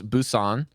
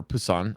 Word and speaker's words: Busan: strategy is the illios Busan or Pusan I think it's like a BP combine for pronunciation lee's young tower oasis